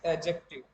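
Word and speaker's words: adjective: इट इज एडजेक्टिव। डी के बाद जे आता है तो डी साइलेंट रहता है।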